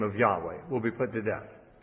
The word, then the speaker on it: Yahweh: When the Septuagint was translated, the Old Testament into Greek, the Septuagint says, whoever utters the name of Yahweh will be put to death.